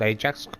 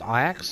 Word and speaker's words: Ajax: Dutch team is a city in Holland called I acts not called Ajax pronounce I acts so I just pronounce